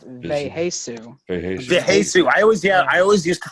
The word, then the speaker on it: Vheissu: It's like It's pronounced Veheisu. Veheisu. I always used to think it was Viasu or something like that.